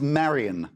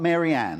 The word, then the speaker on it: Marion: Her name is Marion, not Marianne.